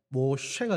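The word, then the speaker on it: משה: 의미를 가진 이름을 짓습니다 이것이 히브리식 히브리 그 히브리식 발음대로 하면 뭐 쇠가 됩니다 모세가 되는데 건지다 끌어내다라는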